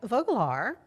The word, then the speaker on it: Vogelaar: Joining me Hayes with Unbound Now Waco and with the Waco Sports Commission, we've got Mike Voglar.